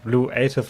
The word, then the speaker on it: luative: Because they said it's pronounced luative, like creative, without the core.